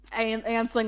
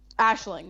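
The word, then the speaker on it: Aisling: and he connects that Ansling was his mom. Ashling was his mom. I know, because I'm guessing you've seen it written down, and a lot of Irish pronunciations different from how they're written down.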